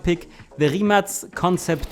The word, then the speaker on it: Rimac: We don't stop, we just keep going, so say hello to our number 5 pick, the Rimac Concept 2 on 5th. And yes, this is how you pronounce it, Rimac.